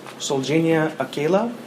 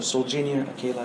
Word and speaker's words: Solgenia Akela: The best way to pronounce it is SOLGENIA Akela, and so SOLGENIA Akela is the right way to pronounce the company name.